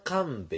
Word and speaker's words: 神戸: とこもあるじゃん神神戸と書いていが神部って言って三重になんか駅があるのよほイ